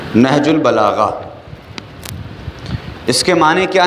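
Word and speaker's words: نهج البلاغة: लिहाजा प्रोनाउंसिएशन जो है नहजुल बलागा का वो गौर कीजिएगा। नून पर ज़बर है, हे साकिन है, जीम पेश है। नहजुल बलागा, नहजुल बलागा इसके माने क्या हैं?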